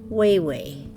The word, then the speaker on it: Wawa: my late father-in-law double if there was two A's in it it would be but because there's only a singular a at each end it is way way it's just the way the Ojibwe dialects work for those of us